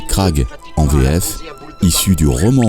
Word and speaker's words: Grag: la version du roman le robot grag prononcé craag en greffe issu du